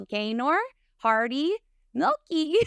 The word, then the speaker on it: Gaynor Hardy-Meilke: guest with me today I have the wonderful gayor Hardy milky did I say that right yes yay okay